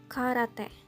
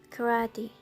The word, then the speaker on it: karate: as it is written karate while in English the pronunciation is very different karate where there are some